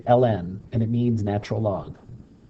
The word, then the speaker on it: ln: is three-fourths okay okay ln that's how you literally say it you say it l-n that's how you pronounce it okay next we're going